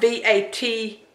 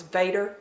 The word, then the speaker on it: Vatar: It's spelled V-A-T-A-R or O-R. Anyhow, I thought it was Vader, but I think someone on there pronounced it Vatar.